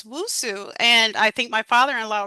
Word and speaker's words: Nwosu: And woso. Now, what's the origin of woso? Is it Nigerian? It's wosu. And I think my father-in-law would pronounce it Musu.